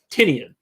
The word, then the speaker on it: Tynion: Whack Comic says he loves that you pronounce Tynion and Tinian both in one sentence. Well, I know it's Tinian, right? Because that was a pronunciation that he put in his own newsletter.